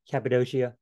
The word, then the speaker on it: Cappadocia: word and kappa do see it's actually change of c to an sh shia shia you know i mean who knows how to pronounce it cappadocia pontus you know just